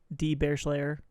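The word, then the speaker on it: DBearslayer: It's at D Bearslayer. The D is silent, but that's how you spell it.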